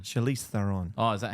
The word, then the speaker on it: Charlize Theron: you were in the monster movie when it was Charlie Theron. Charlize Theron.